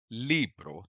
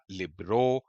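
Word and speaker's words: libro: अब जैसे अगर आप किसी नेटिव को बोलते हुए सुनेंगे कासा लिब्रो तो आप उसको इसी तरह से बोलते हुए सुनेंगे। ऐसा नहीं होगा कि वह बोल रहा हो कासा या लिब्रो वो नहीं होगा।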